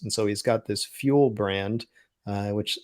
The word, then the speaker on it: Fuel: And so he's got this Fuel brand, which sounds like an odd name, but it's spelled kind of the way Buell is with an F.